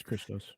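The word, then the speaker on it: Χριστός: Yeah, it's Christos.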